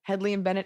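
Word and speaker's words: Hedley & Bennett: room it's a smoky man in a beautiful Headley and benett apron what you pronounced it right I say headle um we're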